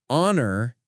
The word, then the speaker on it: honor: He wrote in his script, "It is a honor to be here." And we have a hour for this presentation. The classic H trap. Because the H in honor and our is silent, the word starts with a vowel sound.